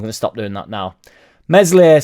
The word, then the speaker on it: Meslier: stop doing that now mesle silent s here we go I